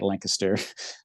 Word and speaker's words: Lancaster: is um and that's how you say it Lancaster um is right in the middle of the